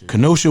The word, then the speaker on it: Kenosha: Once again, those of you living under a rock in Wisconsin, I believe the town was, how you pronounce it? Kenosha, Wisconsin.